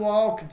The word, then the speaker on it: walked: E olha a pronúncia, mais uma vez eu lembro com você, ó, walked, walked. Não é walked, tá? Não precisa forçar assim, tá? Nós brasileiros forçamos muito o final das palavras. Então é muito comum, né, se errar na pronúncia aí no passado com o ED.